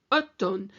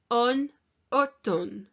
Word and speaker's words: automne: Automne. And the autumn has got an M in it, but it's actually an N sound. So nous sommes en automne.